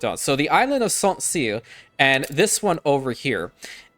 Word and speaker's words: Saint Sére: So thank you for telling me that I was kind of pronouncing it, yes, correctly in a way, Saint Sére. So we're going to stick with that one, Saint Sére.